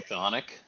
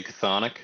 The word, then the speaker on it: chthonic: I think you're supposed to say Chthonic. Chthonic. But I say Chthonic because, I mean, we're CH people. Chris's are very exactly. Is that what this is? Is the Chthonic Knight?